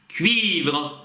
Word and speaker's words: cuivre: Если у вас заметны сложности с произнесением двух французских согласных, произносите их одну за другой по очереди. Например, cuivre, делая так, чтобы у вас каждая из согласных звучала по отдельности.